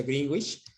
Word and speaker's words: Greenwich: Tomando en cuenta el meridiano de Greenwich o Greenwich, se pronuncia Greenwich, tenemos que el meridiano de Greenwich estamos hacia la izquierda, en el hemisferio occidental.